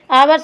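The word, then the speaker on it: hour: पहला ही सही है आवर्त से पूर्व एन का प्रयोग होता है क्योंकि आवर्त एक सिंगुलर नाउन है तथा इसका उच्चारण वल साउंड से होता है तो ऑप्शन नंबर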